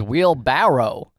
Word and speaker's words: wheelbarrow: I just found out it was wheelbarrow. Yeah, I still say barrel.